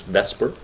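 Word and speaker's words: VSEPR: this is something called the Vesper theory let's pronounce Vesper and what this theory says actually the acronym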